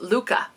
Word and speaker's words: Lykke: of the world's happiest people oh it says pronounced Luca so the little book of Luca all right